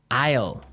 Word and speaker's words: aisle: We don't pronounce the S. The S is silent.